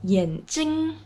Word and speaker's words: 眼睛: Le deuxième caractère de 眼睛, c'est avec le premier ton 睛, 眼睛.